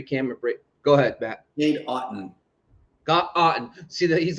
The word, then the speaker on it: Cade Otton: Like it's Cade Otton, and it's perfect. So it's awesome. So thank you, Matt, for breaking down the pronunciation.